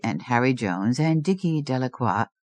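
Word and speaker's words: Delacroix: Bobby and Harry Jones and Dicky Delqua. The villagers pronounced this name Delroy eventually made a great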